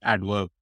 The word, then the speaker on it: Addverb: And a perfect example of this is Adverb, which is spelled as Addverb.